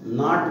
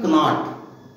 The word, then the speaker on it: knot: Number 1, यदि अंग्रेजी के लेटर के तुरंत बाद अक्षर एन आए तो के का उच्चारण कै नहीं होता है और के अनुच्चरित अर्थात साइलेंट रहता है। जैसे KNOT नाट बोला जाएगा, नाट माने गांठ होती है, न कि कनाट।